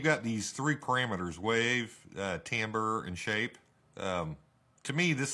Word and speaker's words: timbre: to me this says timber not timbre t-i-m-b-r-e would be timbre or i don't know however you want to say it i'll jump back and forth between tambour and timber but i think it's pronounced timbre in any case the